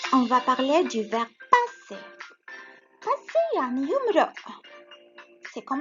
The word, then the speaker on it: passer: passer ça s'écrit P-A S لأنه entre deux voyelles بدنا deux S، ما بزبط S وحدة ولا بتصير passer.